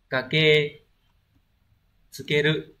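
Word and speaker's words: 駆け付ける: Số 2 chúng ta có từ này đọc là kake tsukeru.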